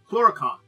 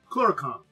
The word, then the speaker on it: Clurichaun: Okay, so Clurichaun. Thank you. I missed that I had information how to pronounce the name. Clurichaun.